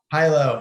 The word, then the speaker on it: HYLO: Is that how you pronounce it? Hilo. Hilo.